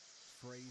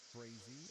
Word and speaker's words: Frazee: Frazee. Yep. Frazee.